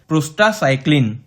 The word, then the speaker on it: prostacyclin: PGI2 is pronounced as prostycl which is a type of a prostaglandin.